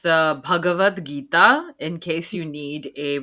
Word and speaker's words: Bhagavad Gita: Yeah, I also want to make sure, guys, it's pronounced the Bhagavad Gita in case you need a pronunciation guide, because